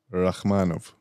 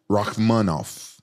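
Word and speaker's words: Rakhmonov: Rachmanov. I was close. Rachmanov. Oh, Shavkat Rachmanov. Uh-huh. Like how you know how to pronounce it?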